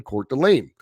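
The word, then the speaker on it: Coeur d'Alene: And he says, greetings from another lifelong Kings fan and everydayer as an expat refugee here in Court d'Alene. Like your other listener, kudos on pronouncing it correctly.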